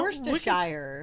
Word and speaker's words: Worcestershire: It's like trying to pronounce all the letters in Worcestershire. You're not going to do it. Stop. No, Worcestershire.